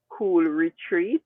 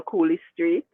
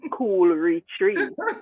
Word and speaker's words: Cool Retreat: feel like calling it it's a bit like um cool retreat which they used to call cooley street and i think until today some people think it's cool street i don't know it's cool retreat you know so i